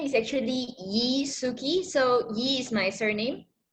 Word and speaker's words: Sueki: name is actually Yi Suki so he is my surname and yes it's pronounced Suki sounds Japanese but it's really not okay yeah sorry what